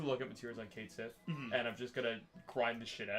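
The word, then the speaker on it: Cait Sith: His name is canonically pronounced Which- Kate Sith.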